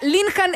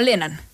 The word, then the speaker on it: Linhan: Lenán, o sea, Linhan en Venezuela, pero se ha chilenizado y todos lo conocen como Lenán.